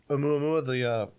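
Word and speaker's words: ʻOumuamua: Oumuamua, the one that was coming.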